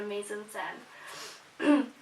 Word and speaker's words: mise-en-scène: many aspects for the mise-en-scène. An example of the mise-en-scène, is that how you say it? Shh. Mise-en-scène, yeah.